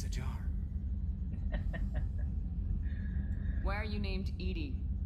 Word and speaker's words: EDI: Why are you named Edie? Edie is the phonetic pronunciation of EDI. That is an acronym for Enhanced Defense Intelligence.